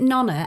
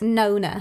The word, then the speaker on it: Nona: People will be like, is it Nonna? And I'm like, no, that's an Italian grandmother. By the way, how do you pronounce? It's Nona. Nona.